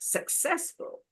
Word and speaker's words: successful: What about the next one? 3. 3 syllables. Successful. Yeah. So you And then stress on the first, second, or third syllable? Second. Second, correct. Successful. Difficult is 3 syllable.